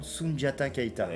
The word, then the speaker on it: Sundiata Keïta: Je vais essayer de le prononcer correctement, Sundiata Keïta.